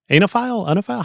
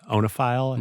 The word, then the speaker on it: oenophile: He would become a huge anophile? How do you pronounce it? I have no idea. I think it's like OENOPHILE, the wine lover, onophile.